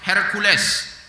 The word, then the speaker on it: Heraklius: Yordania lalu disambutlah oleh herkules kalau tulisan bahasa heraklius kalau dibacanya itu herkules lah seperti itu rajanya Romawi menyambut